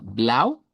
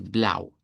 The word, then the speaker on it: blau: Eh vamos a comenzar, como les decía, con el blau. El blau es el color base. Lo vamos a pronunciar el diptongo au con una u corta, una a del español y una u corta.